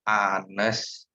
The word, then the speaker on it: honest: Oke, honest itu karena H, dia artikelnya A, tetapi dalam bahasa Inggris penyebutan atau pronunciation-nya itu honest. Jadi dia harus menggunakan artikel en.